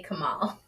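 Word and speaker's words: comal: wrong but you know hey Google how do you say Kamal in Spanish in Spanish Kamal is there you go that was close Google behind you is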